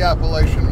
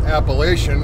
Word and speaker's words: Appalachian: um confines of the Appalachian Mountains and I always pause when I pronounce that because up north uh when we went to school we were taught Appalachian and I've been corrected my entire life uh by folks that